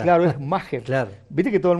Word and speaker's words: Maher: buscado por los colegas, Maher Carrizo, que así se pronuncia. Yo se lo pregunté en la zona mixta porque se escribe Maher, M-A-H-R, Maher. Y es Maher.